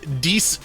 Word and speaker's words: Dees: It was supposed to be called "What is Desi Drawing," but Josh mispronounced it, which I think I was probably mispronouncing it first. It is "What is Dees Drawing?"